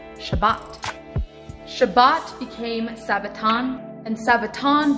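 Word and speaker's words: שבת: sabbath on is this word and it is pronounced shabbat shabbat became sabaton and sabaton became sabbath this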